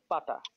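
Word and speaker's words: فتحة: It says written on the top of the Arabic letter is called fata. And stands for a short a. This vowel is pronounced as a in apple.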